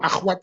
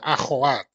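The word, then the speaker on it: أَخَوَات: tahu bahwa itu keliru akhwat itu knya enggak disukun di fathah ya akhawat jadi setelah kaha itu o ya karena bacanya kan ko ya bukan aha ya ko biar orang tahu Ya.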